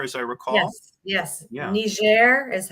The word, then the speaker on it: Niger: the Peace Corps as I recall yes yes ner is how you pronounce or Niger but above Nigeria it's a different country people